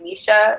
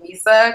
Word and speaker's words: Misa: me, they call like some of my friends will say like Misha instead of like Misa, because they're like, that's how Black people pronounce it. They just don't, they're like it's like hood adjacent Black people will like assume that it's just like spelled the way like Misha would be said, and they're like, oh,